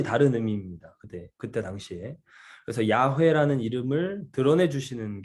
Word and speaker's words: 야훼: 이 말 그대로 사실 발음하면 야훼 이렇게 된다고 말씀드렸죠.